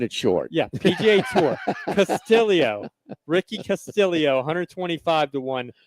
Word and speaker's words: Castillo: Ricky Castillio is how this is apparently announced. Castillo with two L's. But it's I'm glad you're keeping it short. Yeah. PGA Tour. Castillio.